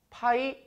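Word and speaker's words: π: 4 이 문제는 요 어떻게 읽으시면 되냐면 요 그리스 본자 이고요 있는 방법은 파이 라고 읽어주시면 됩니다 그리고 이 파이는 요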